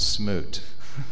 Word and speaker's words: SMUT: I did that's actually we pronounce it Smoot is how we pronounce i pronoun that I